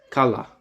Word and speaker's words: Qala: Qala, that's how you say it.